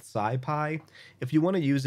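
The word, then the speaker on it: SciPy: need to pip install Sai Pi which is spelt right here s CI py so I'm going to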